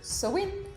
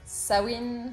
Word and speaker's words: Samhain: Aujourd'hui encore, nous parlerons d'un sabbat, celui de Samhain, Samhain, Samhain, Samhain ou encore Samhain. Beaucoup de prononciations pour un seul sabbat.